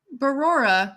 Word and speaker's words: Barora: Barora, like Aurora, Barora. like with a B. Barora. Like brown Aurora.